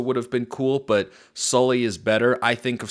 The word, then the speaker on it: Soelle: Oregon fan right now how do you pronounce this guy's name correctly solely you know slowly kind of like the monster from Monsters Inc Connor Sully great first of all